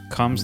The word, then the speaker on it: Combs: Combs like a comb. Fuck. Jeffrey Combs. Combs. Oh, you mean like a comb where you used to style your hair? Yeah. I thought it was something else. Jeffrey Combs.